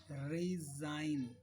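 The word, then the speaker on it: resign: जी silent कहाँ कहाँ सकता है, जैसे ये रिजाइन, आप रिजाइन दे रहे हो, साइन, इन सब में जी साइलेंट है।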